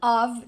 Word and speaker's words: of: Aqui, atenção para a pronúncia de of, ele tem esse sonzinho mesmo de V no final. And the sound of drums, e o som de tambores.